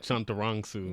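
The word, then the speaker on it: Chantarangsu: know tim delegato or tim chanteronsu that's how you pronounce it chunturongsu yeah i can't say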